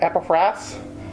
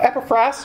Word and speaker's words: Epaphras: a few months ago Mary said epiphras and I said I stand corrected potato potatoes different preachers call it different ways and if you were to go on Google both pronunciations are acceptable but epifras was with